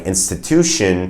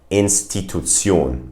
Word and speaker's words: Institution: In a word like institution, the German pronunciation of that word would be Institution.